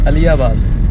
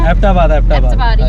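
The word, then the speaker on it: Abbottabad: How do you say it? अलियाबाद, No. एबटाबाद, Yeah, that one.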